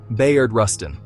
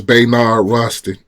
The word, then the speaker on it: Bayard Rustin: Bayard Rustin. When you picture the 1963 Excuse Mr. AI, he didn't quite pronounce it right. His name was Bayard Rustin.